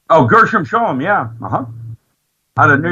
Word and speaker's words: Gershom Scholem: Gershom Shlomo. Gershom Shoma? Oh, Gershom Scholem, yeah.